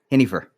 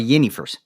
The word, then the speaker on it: Jennifer: He called her Hennifer, not Jennifer, because that's the English way to pronounce Hennifer. Now, growing up, the Jennifers I knew were called Yennifers. Sounds with the Y.